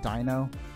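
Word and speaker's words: Deino: I still call a like the Pokemon Danny no instead of Dino I know it's Dino but I just got too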